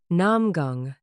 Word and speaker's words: Namgung: The surname alone had told her something before the gate even opened. Because it is an old name and a rare one, two syllables where almost everyone else has one.